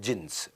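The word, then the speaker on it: Djinns: में क्लब होता था जिंस डी जिंस लिखता था डी साइलेंट होता था जिंस वो जिंस में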